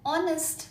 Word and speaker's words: honest: Whereas an honest man. Honest. This starts with a vowel sound o.